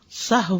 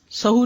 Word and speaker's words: سہو: کا فعل بھی ہے۔ سہو ہوتا ہے، سہو نہیں ہوتا، سب لوگ اپنا تلفظ بھی درست کر لیں۔ سہو جیسے لغو، ٹھیک ہے، کرب، نفس، سہو۔ سجدہ سہو کے اسباب، اس